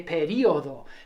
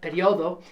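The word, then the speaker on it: período: There are two acceptable pronunciations and spellings for period. You could have it with an accented I, in which you'd say periodo, periodo. But periodo is equally acceptable.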